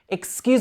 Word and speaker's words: excuse: Watch the pronunciation of this word as well because it looks like it should be excuse me, but mostly we would say excuse. So it starts with it, and the stress is on the Q's.